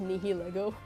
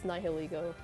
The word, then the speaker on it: Nihilego: I was a kid, I thought it was pronounced Nihilego. That's how I pronounced it for the longest time, but I know it's Nihilego, because Nihil and ego, because it's supposed to